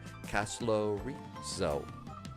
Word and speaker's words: Casto: I think that this is the first time that we have ever had ATC going into Casto. I didn't realize it was a hard C on that one.